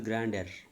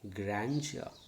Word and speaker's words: grandeur: u r okay grandeur people used to this one as grand error no it is grandia and di sol dier